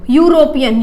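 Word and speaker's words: European: pronounce हो रहा है लेकिन एक्चुअली में ये यू नहीं होता है ये क्या होता है वाई यू होता है तो देखिए इसके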